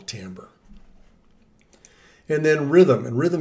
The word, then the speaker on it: timbre: have something that's very important and it's called timbre it looks like timbra on the spelling but we pronounce it timbre and this means the tone color or tone